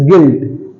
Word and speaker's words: guilt: Okay, guilt, it's not guilt, it's guilt. Why? Because U is silent.